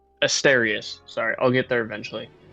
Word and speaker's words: Asterius: So, if um God, your name is hard for me to pronounce. Aster. Asterius.